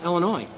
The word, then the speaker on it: Illinois: they pronounce it differently there is no noise in illinois crayon well when my